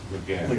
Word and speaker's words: Laguerre: Laguerre.